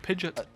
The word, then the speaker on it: Pidgeot: Maybe you could call it Pidgeot. Yeah, I mean, because it's like pigeon with a T on the end, which kind of makes sense now.